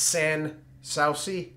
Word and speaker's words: Sans Souci: number one right it's San Sai okay s an s on the end I know the S is silent it is French at the same time